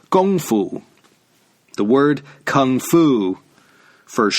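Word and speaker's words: 功夫: kung-fu style of fighting which in Chinese is called gongfu the word kung foo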